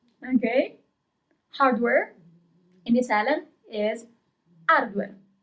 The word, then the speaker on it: hardware: Hardware in Italian is hardware. We don't pronounce the letter H.